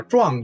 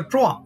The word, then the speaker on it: 僮: 顺便说一句啊，壮族的壮是多音字，要按同的发音呢，说文给